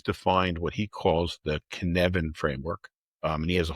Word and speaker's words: Cynefin: It's Cynefin. Sounds So, Welsh. and that's a Welsh word, and I think it means something like home. And I'm probably still not pronouncing it correctly, but the Cynefin framework,